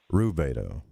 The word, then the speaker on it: rubedo: is pronounced Albedo, and the reddening, which is pronounced Rubedo.